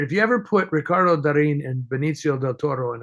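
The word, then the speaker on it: Darín: if you're into I I believe he pronounces his name Darin Ricardo Darin um and I I just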